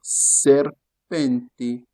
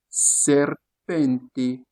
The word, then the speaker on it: serpente: On a S dans serpenté. Serpenteé.